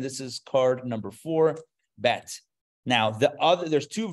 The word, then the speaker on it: bet: is an easier sound the dot gives it a Dage gives it a little emphasis so bet vet okay but how do